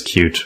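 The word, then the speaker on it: Qt: I will try to remember to pronounce it as cute whenever we talk about the GUI framework on the show.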